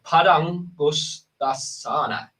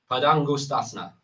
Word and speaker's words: Padangusthasana: toe pose, and I'm going to try and pronounce the Sanskrit name for this. It's Padangusthasana. Is that right, Amit? Padangusthasana.